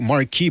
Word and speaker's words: Marquis: Marquis 912, Marquis, by the way, that's the French pronunciation, says Mexicans are snack to Juanito.